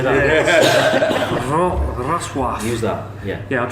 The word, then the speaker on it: Wrocław: Looks like Wrocław, but it's actually pronounced something more like Wrocław. Yeah. That sounded really good. cool. Say that. Wrocław.